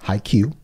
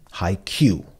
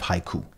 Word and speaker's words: Haikyuu: Haikyuu. Haikyuu instead of haiku. Yeah, like IQ.